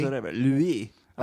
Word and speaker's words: LWEE: Worst Louis? episode ever. LWEE. I Oh, like Louis.